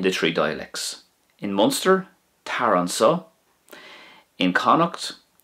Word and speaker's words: tar anseo: If you wanted to say "come here" in Irish, in Munster you would say tar an sa, tar an sa.